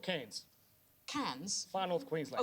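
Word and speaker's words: Cairns: in Australia place called can's can's far North Queensland oh can's no it's can can can how do you spell it c a i i n s it's is Ken Ken yeah all right who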